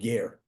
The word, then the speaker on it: Ger: It's called Ger. In Europe, in Poland, there was a city called Gur, G-U-R. The way it's pronounced, the Jews pronounce Ger, like convert Ger, Ger Hasidim.